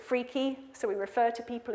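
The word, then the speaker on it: FRKE: We say F-R-K-E, we pronounce it freaky, so we refer to people as being freaky, you're not freaky, or this answer is freaky, you're not freaky.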